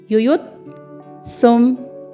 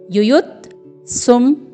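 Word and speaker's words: युयुत्सुम्: तो इसका उच्चारण करेंगे युयुत सुम, युयुत सुम।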